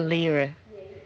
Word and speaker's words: lyra: It's a lyra, which is a European pronunciation of lyre.